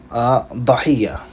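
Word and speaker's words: ضحية: And the hamza can be removed as well, and the fatha will be placed on the dad, and you will say dahiyya.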